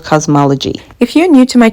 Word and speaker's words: Kazmaleje: they actually say like they tell you how to pronounce and it's actually pronounced cosmology the first tool that